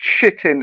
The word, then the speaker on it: chitin: Watch out for the ingredient shitting, and it's spelled CHITIN, and that's crushed bug flour. What's that? What's it called? Shitting. Shitting, but it's spelled CH, not SH. Shitting.